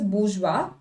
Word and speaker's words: bourgeois: This is pronounced as bourgeois.